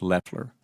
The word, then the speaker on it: Loeffler: The administrator last name is pronounced Leler.